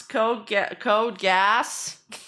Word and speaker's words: Code Geass: That's how you pronounce code gas. Shit, I've been saying it wrong the whole time.